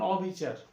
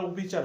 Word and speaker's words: অবিচার: মত হবে না যেমন অবিচার এটা আর অভিচার হবে না এটা অবিচার হবে অ স্বাভাবিক উচ্চারণ হবে প্রিয় শিক্ষার্থীবৃন্দ আমরা আজকের